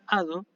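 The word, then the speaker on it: ᾄδω: otro ejemplo que es el verbo ado así se pronuncia ado y esto es un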